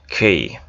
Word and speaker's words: king: কিং, হ্যাঁ নট কিং, এটা হচ্ছে খিং খিং। এই যে শুনো খিং।